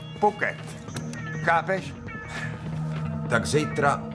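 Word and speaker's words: Phuket: Hele, to se vyslovuje Puket.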